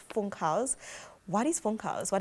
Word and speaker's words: Funkhaus: would want to say funk house because of the you but in german the u is pronounced ooh so it's funk house phone calls means um